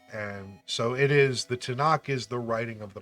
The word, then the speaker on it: Tanakh: So, okay, it's pronounced ta, na, ka, which is the Torah, meaning basically Bible, and then the Hebrew letter indicating prophets, and so it is, the Tanakh is the writing of the prophets.